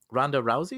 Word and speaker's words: Ronda Rousey: So this comes from hot off the heels off of Ronda Rousey. Is that how I pronounce her name?